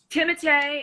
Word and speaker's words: Timothée: only the other day I was saying it totally wrong and his name is Tim otay Tim atay is proper pronunciation but Timmy is what